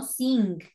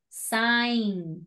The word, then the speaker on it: sign: all right remember it's sign no sing sign sign sign sorry sorry sign yeah it's sign what is it it no it's see so remember it's sign sign the receipt sign the